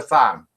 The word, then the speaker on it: Tham: And another cake has been sent from Pronto to Tham. It's Tham, by the way, not Tam, I have been told.